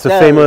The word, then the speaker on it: Stelvio: It's Stelvio.